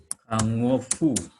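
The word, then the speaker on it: 看護婦: Dede Sangwa Kango Fu Deska ya. Jadi hati-hati pengucapan Kango Fu dengan Kangkoku misalnya. Kalau Kangkoku itu Korea, kalau ini Kangofu perawatnya. Jadi Dede Sangwa Kangofu Deska. Di sini tidak pakai K ya.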